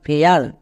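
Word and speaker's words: fair: যেমন দেখো, নিচের প্রত্যেকটি ওয়ার্ডে এ আই আছে এবং ঠিক তারপরে আর আছে, তার মানে এ আ সাউন্ড হবে। যেমন এফ এ আই আর, ফেয়ার, এ আই আর, এয়ার, এল এ আই R, layer.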